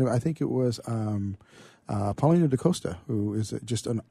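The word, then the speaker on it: Paulinho: See, I've been saying it wrong. I always call him Paulino. But Paulino.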